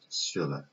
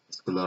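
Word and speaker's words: scholar: رو انجام بده میشه شیلر. و باید شیلرشیپش رو بگیرم. اسکولارشیپ، اسکولار رو هم بهش میگن. هر دو تلفظش قابل قبوله، هم حالت آلمانی شیلر هم حالت دیگرش اسکولار میگن.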